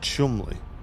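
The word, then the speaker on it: Cholmondeley: Scholi is pronounced Chumley.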